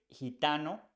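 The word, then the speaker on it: gitano: with the word henti Gente has e after G so it sounds like H we say hente hente the same for hitano we say hitano because I comes after G so you pronounce like hidano and for words like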